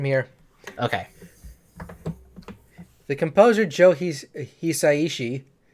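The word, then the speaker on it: 久石: The composer Joe Hisaishi, it's a little bit, Japanese pronunciation, Hisaishi.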